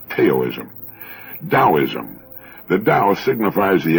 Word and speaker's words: Taoism: Now, that's spelled Taoism and often mispronounced Taoism.